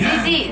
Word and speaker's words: Zizí: Zizí, Z-I-Z-I, accent on the last I.